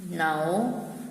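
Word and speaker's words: know: page number 66 okay नो dues certificate है a being a ignore dubbing कि नो के इधर साइलेंट होता है तो इट्स प्रनंसीएशन आफ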